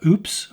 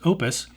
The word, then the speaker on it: Oupes: heard it pronounced uh oops or upez but for what it's worth it's actually pronounced Opus and the company has